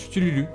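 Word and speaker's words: Cthulhu: Ça se prononce Chtululu.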